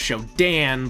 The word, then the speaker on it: SHODAN: of her era shodon technically it's pronounced show dan but shodan sounds cool but i